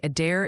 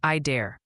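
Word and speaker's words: Adair: Multiple people are saying a dare is pronounced I dare.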